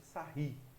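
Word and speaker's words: Sarrus: Quando eu falo determinante da matriz de ordem 3, na verdade eu estou falando da regra de Sarri, tá? Se escreve Sarros, tá?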